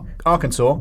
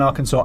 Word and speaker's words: Arkansas: I can't do an Arkansas accent. Also, I'm very angry about Arkansas because I have been pronouncing it Arkansas right up until yesterday. Oh, no. I mean, it 100% reads like Arkansas.